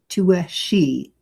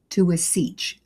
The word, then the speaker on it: Taoiseach: Taoiseach, no, I'm going to say it again. Taoiseach, Prime Minister of Ireland.